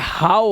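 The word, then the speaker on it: how: जैसे एस एच ओ डब्ल्यू को तो आप शो पढ़ लेते हो लेकिन अगर इसका एस हटा दूं तो इस एच ओ डब्ल्यू को हो नहीं पढ़ेंगे यह हाउ हो जाता है इसी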